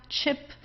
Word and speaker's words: Chip: Then we have chip. So this is an English word, so we also pronounce it the English word.